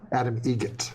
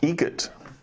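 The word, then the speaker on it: Adam Eget: Adam Egget. Egget.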